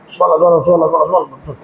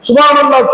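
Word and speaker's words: سبحان الله: இந்த இடத்துலயும் திரும்ப நினைவுபடுத்தும் சுபஹானல்லாஹ் நம்ம சொல்றத பாருங்க சுபான இது சொல்லலாமா சுபஹானல்லாஹ் சொல்றதுல கூட நிதானம் அல்லாஹ் பல்லா என்ன சொல்ல வரேன் இப்படி சொல்லக்கூடாது. நிறுத்தணும். சுபஹானல்லாஹ் அதுக்கு ஒரு உச்சரிப்பு இருக்கு ப்ரோனன்சேஷன் இருக்கு அதுக்கு ஒரு அர்த்தம் இருக்கு.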